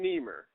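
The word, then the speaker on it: Nimer: In an article entitled Politics and Scholarship published in the ASA journal, African Study Review, Benjamin Niemer, I think that's how you pronounce it, N-I-M-E-R, begins patronizingly by saying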